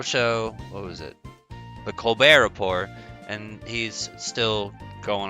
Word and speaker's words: Colbert: they're saying colbert isn't it says colbert but he pronounces it colbert because the man decided